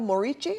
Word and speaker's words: Morici: that would be morici I hope I'm pronouncing your last name correct you have a harrowing evacuation story okay correct me if I'm wrong uh no you got it right uh well uh I